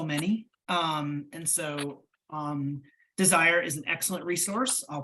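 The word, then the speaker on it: DSIRE: a website I think it's called desire which is spelled differently d-s-i-r-e and they have qualifications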